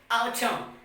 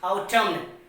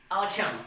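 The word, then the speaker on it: autumn: some examples say here a u t u m n so we will pronounce it what our term not our terminal so it will pronounce our term now the next example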